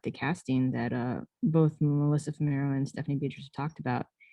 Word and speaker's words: Fumero: How do you pronounce her surname? Melissa. Sorry about Basically, that. Fumero.